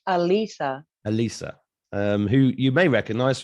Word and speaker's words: Alisa: Do I pronounce it Alicia or Alisa? It's Alisa.